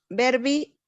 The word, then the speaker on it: verbi: Verbi recipit enim an nomine genera et casus a verbo tempora et. Nada más fíjate, recordar la pronunciación de la U latina María José, como verbi.